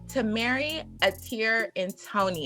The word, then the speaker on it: Tamerri Ater-Ntonni: And her name is Tamerri Ater-Ntonni.